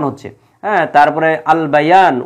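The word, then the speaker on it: البيان: আল ইনসান উচ্চারণ হচ্ছে, হ্যাঁ, তারপরে আল বায়ান উচ্চারণ হচ্ছে।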